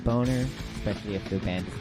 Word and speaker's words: Bogner: I believe that his guitar amp that he was using was called a Bogner, B-O-G-N-E-R. I prefer to think that it's pronounced Boner, especially if the band is called CUNTS.